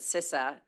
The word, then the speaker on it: CISA: you're doing fits right into the work that sisa as you all know how to pronounce it now thank youum um is is